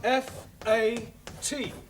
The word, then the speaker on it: fat: give you some examples let us take the word f a t now that has a flat a sound a good but if